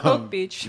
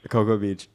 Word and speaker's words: Cocoa Beach: Coke Beach. Because I said it as it's spelled. Anyways, Cocoa Beach, and then we What do stayed you mean? It's at. spelled like Coco.